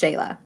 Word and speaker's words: Shala: Yeah, it's Shala and pronounced Shayla.